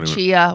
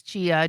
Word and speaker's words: chia: Chai seeds or chia, whatever you want to call them. Well, there's two different things. Well, it's chai latte, but it's spelled the same. It's chia chai. I don't know. Chia c h i a.